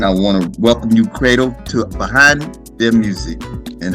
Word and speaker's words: Credle: Yeah, so guys, again, my name is Credle. Now, I know it's pronounced like an A, but it's spelled Credle.